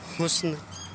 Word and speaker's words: حسن: جسم بولیں گے، جسم۔ اسی کا ہم آواز لفظ ہے حسن، ٹھیک ہے؟